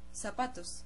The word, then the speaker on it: zapatos: In Latin America, it's like an S, like zapatos, which means shoes. It goes with Z, and we say zapatos, like an S.